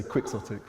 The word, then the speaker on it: quixotic: And it's where we get the word quixotic, which I think should be pronounced chaotic, but it's not. We have to say quixotic, which feels dumb, but that's that.